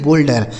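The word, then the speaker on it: boulder: नहीं शोल्डर ठीक है इसे बाउल्डर नहीं बोल्डर ठीक है ना तो ओ के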